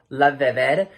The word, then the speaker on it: LaVivid: packaging is legit gorgeous now i hope i'm pronouncing this name right but it is called la vivid it's l-a-v-i-v-i-d gorgeous packaging with this golden cursive